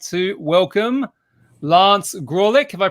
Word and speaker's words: Graulich: So today I would like to welcome Lance Graulich. Have I pronounced it right, Lance?